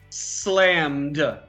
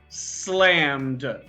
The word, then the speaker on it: slammed: here if you look slammed slammed now this is a d sound slammed but if we look